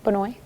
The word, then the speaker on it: Benoit: this movie is how you say his name benoit we'll be right back after this yeah in